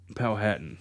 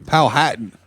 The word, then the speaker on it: Powhatan: let's go to uh pohatan county virginia um i think that's how you say it let me see it oh here there it is is that right that'd be powhatan county pow hatton what'd i say oh